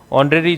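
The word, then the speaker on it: honorary: कौन सी होती है ऑनरेरी जॉब या ऑनरेरी पोस्ट यानी अवैतनिक नौकरी अवैतनिक नौकरी उसको इंग्लिश में बोला जाता है ऑनरेरी या ऑनरेरी तो एच साइलेंट है लेकिन पोस्ट या जॉब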